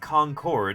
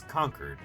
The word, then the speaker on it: Concord: And no, it's not pronounced Concord, it's Concord. That's how locals say it.